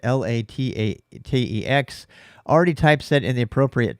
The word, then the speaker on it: LaTeX: I know people pronounce it differently. That's how I pronounce it, LaTeX.